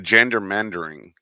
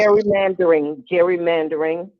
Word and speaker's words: gerrymandering: The gendermandering, Mm-hmm. if I'm saying it right. Yeah. That's happening here in Texas. Gerrymandering.